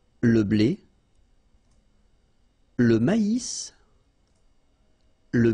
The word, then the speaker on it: maïs: L'avoine, le blé, here, accent aigu, et le maïs. So here you get this tréma, so maïs, maïs. And then you pronounce the final S, maïs.